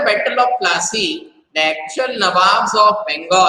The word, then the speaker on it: Nawab: Now NAWABS is Nawab, but again the European people were not able to pronounce it as Nawab. So instead of Nawab, what do they pronounce it? They pronounce it as Nabo.